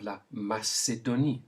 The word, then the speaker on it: la Macédonie: Then we have la Macédonie. Say it. La Macédonie, all with the S sound.